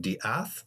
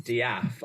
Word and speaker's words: De'Ath: Um, how is it Dath? Dath. How do you pronounce the last name? It is Daf.